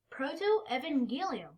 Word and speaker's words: protoevangelium: the bible yeah so clayton how do you pronounce that greek word in front of us proto-evangelium very good so that's a greek word meaning